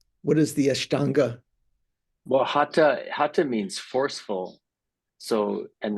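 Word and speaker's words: Hatha: ha yoga the the th is is not pronounced like we would say theistic or you know it's it's just an aspirated tea hat yoga so uh that's another kind of yoga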